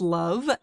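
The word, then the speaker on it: LOVB: Yeah, we aim to be a little bit different at Love or League One volleyball pronounced love.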